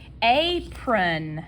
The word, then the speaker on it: apron: And that's a long A. On. And I'm saying on because it is spelled with an O. As Southerners, we do typically say a for this particular word, apron. But that's where, like I said earlier, A and O sometimes get confused and they make the sound.